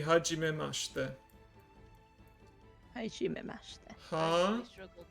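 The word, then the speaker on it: はじめまして: So when you first meet someone, and introduce yourself, you say hajimemashite.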